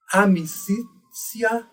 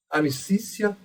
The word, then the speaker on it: amicitia: Consoantes t e ti pronunciam-se como si. Então, por exemplo, nessas palavras, eu diria amicitia e sapientia. Amicícia e sapientia.